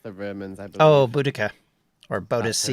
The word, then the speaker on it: Boudica: Oh, Boudica, or That's her Boadicea, name, depending on yeah. whose pronunciation Well, I you was hear. gonna say Boudica. Yeah, Boudica is the more modern pronunciation.